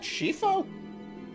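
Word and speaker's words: Scifo: his name was flynn shifo that's how you pronounce that shifo all right whatever you say is he still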